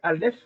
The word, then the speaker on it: aleph: Alors, la première lettre, c'est la lettre ALF. Alors, elle se prononce pas comme la lettre euh notre lettre A, c'est une lettre muette. C'est comme le H.